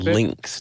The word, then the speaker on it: Linx: the name here resound how do you say the last lynx lynx lynx to yes okay what is resound